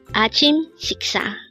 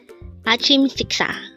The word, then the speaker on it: 아침식사: 아침식사. 아침식사. This pronounces a four-syllable word. The first syllable is a, second syllable is chim, third is sik, fourth is sa.